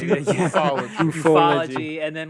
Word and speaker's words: ufology: Pronounced ufology.